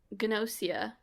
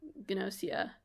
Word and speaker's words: Gnosia: six weeks was uh called gnosia pretty sure you pronounced the G um it's uh it's